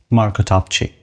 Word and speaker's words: Marko Topchii: Today we have here the one and only Marko Topchii. Is this the right way to say it? Almost. How do you say it? Marko Topchii.